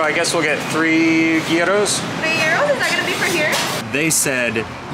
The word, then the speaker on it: gyro: Is it pronounced gyro or giro or iro?